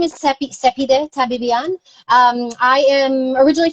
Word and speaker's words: Cepee: people call me sepi i tell them sepi rhymes with pepe but it is a